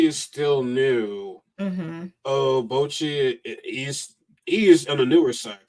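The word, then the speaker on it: Bocchi: Is how's it pronounced? Bochi or Buchi? Bochi.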